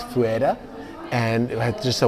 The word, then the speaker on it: Ferreira: I normally used to pronounce it Ferrer. That's wrong. It's fuea.